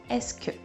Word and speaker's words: est-ce que: bit overwhelming complicated Etc but just learn es imagine it written like this and that's all you need to pronounce it so no extra complicated